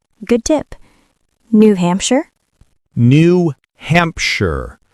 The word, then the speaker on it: New Hampshire: New Hampshire. The sh becomes sure.